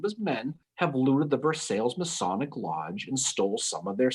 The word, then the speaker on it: Versailles: Looks like Versailles, but it's pronounced Versailles.